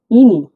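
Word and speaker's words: іні: যেটা পেয়েছি আমরা দেখুন এ উচ্চারণটা হবে ই এর মত যেমন একটু সিম্পলি হবে কোন জোর দেব না আমরা ইনি ইনি মানে ছোট ভাই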